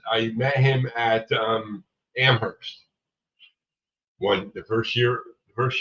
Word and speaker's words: Amherst: If you look it up town it's spelled the way you typed there Amhurst but it's not pronounced Am arrest. It's Amherst.